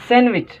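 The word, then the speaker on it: sandwich: nine number ते आए सैंडविच सैंडविच ठीक है भी डी खामोश आए सैंडविच जो मतलब आए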